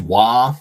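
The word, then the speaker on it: Waaagh: So a wog, which I'm told is pronounced just wah, but it's the spirit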